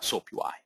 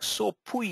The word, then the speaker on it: SoapUI: even pronounce that uh soapui right some of you might be saying soap po or soap whatever right so it is soap UI as an uh soap